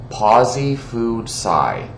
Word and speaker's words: PosiFoodSci: scientist on instagram uh their name is pawzee food sci okay and that is spelled p-o-s-i-f-o-o-d-s-c-i okay so this person